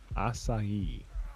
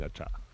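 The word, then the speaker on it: açaí: I kept saying acha. Acha. Acha. Yeah, it's acai. I'm getting a bunch of strong wood. It's probably the longest syllabled word with the least amount of letters.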